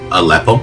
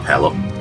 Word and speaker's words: Aleppo: Aleppo, not a pillow. I don't know why I always want to pronounce it a uh it's very strange but uh it's just the way it goes.